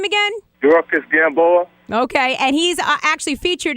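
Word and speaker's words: Yuriorkis Gamboa: Dorcas Gamboa.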